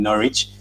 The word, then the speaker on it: Norwich: but it's not enough i saw someone having a hard time saying norwich because the w is silent i absolutely love that